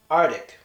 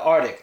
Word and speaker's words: Arctic: blue blue okay so the first word here is usually pronounced artic the Arctic now you our tickets you